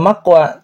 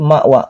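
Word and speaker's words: مأوى: Ma ditekan bukan mak maqwa. Bukan maqwa tapi mawa.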